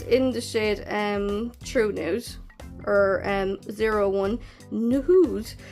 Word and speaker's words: Noohde: So it's in the shade True Nude or 01 Nude. So it's spelled Noohde and it's like kind of capitalized on the O's and the H, so I think it's pronounced nude.